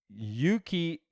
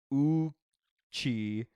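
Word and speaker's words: Yuchi: Also, I'm from Oklahoma, and Yuki Indians is pronounced Uchi. Oh, like, okay. Ooh, something's gross, and there's no Y in it.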